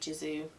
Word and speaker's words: Gisou: And the hair oil that I'm using, and I think I'm pronouncing this right, I think it is a soft G, is the Gisou honey infused hair oil.